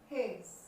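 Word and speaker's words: hedge: इसी तरह से हेज, हेज, डी साइलेंट रहेगा, हेज, इस हेज।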